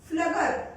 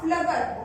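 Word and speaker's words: Pflüger: Egg tubes of Flubber. P. Here P is silent. F-L-U-G-E-R. Egg tubes of Flubber.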